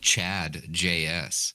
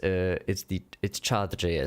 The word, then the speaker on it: Chart.js: It sounded like Chad. I'm like, that looks hilarious. I was trying to make a joke too. So. If it bombed, it's chart.js, so it's basically like default